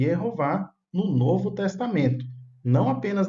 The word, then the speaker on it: Jeová: Jeová em hebraico, Jeová é a pronúncia em português.